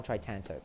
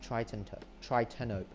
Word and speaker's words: Tritanope: I used to play it on Tritanope, actually. That's not because I was colorblind. Actually, no, it's Tritanope. Yeah, sorry, I pronounced that wrong.